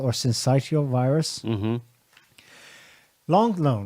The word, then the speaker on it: syncytial: the last week rsv respiratory i need to pronounce that respiratory syncytial or syncytial virus long lone right it's got still got